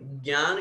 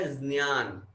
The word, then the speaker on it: ज्ञान: शुद्ध अगर अपन व्याकरण की दृष्टि से देखें तो आधा ज और उसी जो चवर्ग का अंतिम अक्षर है जिसे बोलते हैं ये दोनों शब्द मिलकर के ज्ञान शब्द बनते हैं। व्याकरण की दृष्टि से इसका अगर हम उच्चारण करेंगे तो ये बनेगा ज्ञान, ज्ञान। आधा जय भी लेना है और चवर्ग का ये तो ज्ञान ऐसा बनता है।